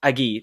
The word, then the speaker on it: Agee: and then Steve uh it's either Steve Agee or Auggie I don't know how his last name is pronounced Aggie thank you he's reprising his role